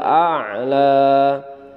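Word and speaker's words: الأعلى: pertama Bismillahirohmanirohim sabbihisma robbikal A'la sabbihisma robbikal iler racikan dalam pelafalan a la disitu agak sedikit ditekan karena disitu menunjukkan huruf Ain dan diakhir kalimatnya itu dibaca panjang tetapi jangan terlalu panjang sabbihisma robbikal Shalala ayat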